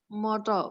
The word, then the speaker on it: motor: Motor. Motor. T-nya agak susah. Motor. Jadi kayak soft D.